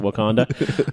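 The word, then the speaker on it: Wauconda: town in Illinois called Wakanda Wow it's spelled differently but pronounced the same way awesome and because of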